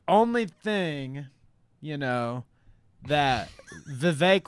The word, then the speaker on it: Vivek: thing, you know, that Vivek like Cake Ramaswamy could do to be more personable to people is like pants somebody, or maybe Batwing.